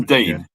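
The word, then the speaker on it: Digne: Luca Dean's in at left back, which was expected, and Coutinho. We're agreeing on Dean for the pronunciation. Dean. I've seen a video. Just say Dean.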